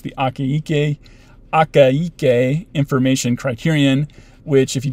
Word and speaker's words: Akaike: out there who was named akaike uh yeah four syllables six phonemes it's fun anyways uh i'm